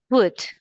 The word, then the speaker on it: would: Be careful because this oo doesn't sound like who but wood like w uhhuh w would good.